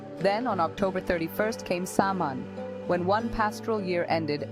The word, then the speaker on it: Samhain: that the Irish New Year festival of Samhain, pronounced Samhain, was born, says archaeologist and Rathcroghan expert Daniel Curley.